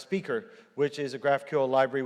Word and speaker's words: SPQR: one called graph QL SPQR or pronounced speaker which is a graphical